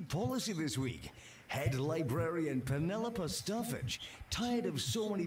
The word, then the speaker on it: Penelope: Also, you pronounce her name very weirdly. You say Penelope? That's what it sounded like. Come on, Ricky, it's Penelope.